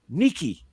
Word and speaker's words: Nike: that he is uh nike is named after the greek goddess of a victory whose name is neither pronounced nike or nike but nikki well tom i'm not